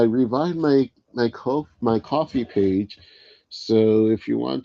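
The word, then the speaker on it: Ko-fi: It's just I see it like spelled like Ko- Fi. Like I I want to say Kofi or something though. I'm told it's coffee tomato.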